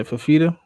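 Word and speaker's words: Fifita: I don't want to mispronounce it. Noah Fafita? Yeah, Fafita.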